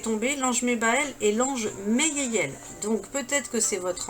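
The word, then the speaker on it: Haiaiel: Meyeyel. Donc ça s'écrit H-A-I-A-I-E-L. Mais il dit, il faut l'appeler avec M. Meyeyel.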